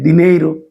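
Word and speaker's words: dinheiro: হা এর মত উচ্চারণ হয় আ এর মত উচ্চারণ হবে এখন আরা একই সাথে সাথে এখানে এন এচ ই বা এন আগাই দেখি দিনেইরু আপনারা জানেন দিনেইরু সবাই চিনেন দিনেইরু দিনেইরু মানে হচ্ছে যে অর্থ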